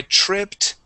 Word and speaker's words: tripped: Remember, it ends with a T sound.